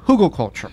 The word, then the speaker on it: Hugelkultur: of the term came from but it's called Google culture yes and it is called Google culture and